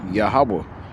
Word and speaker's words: Yahawah: Whenever you see the word Lord in caps, it's the word Yahawa in most English translations.